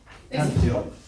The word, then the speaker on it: Antioch: He modelled Christ with his words and his actions and his conduct alongside Peter in, I can't pronounce this very well, Antioch. Can you say it better? Antioch.